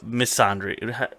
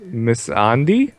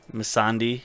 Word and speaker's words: Melisandre: uh Melisandre right now misandry how do you say it Oh miss Andrews is Miss on d miss on d sure yes that's it zombie mi SS a and de i right miss on d that's it so um